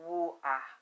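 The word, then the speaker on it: Hua: people in China called, it's spelled H-U-A, but it's pronounced Wu-A.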